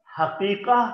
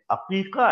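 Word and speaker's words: عقيقة: लफ्ज आप जानते हैं, इसको अक्सर लोग गलत प्रोनाउंस करते हैं, हकीका बोल रहे होते हैं, ये लफ्ज हकीका नहीं है, अकीका है, ऐन के साथ है ये लफ्ज, हा के साथ नहीं है।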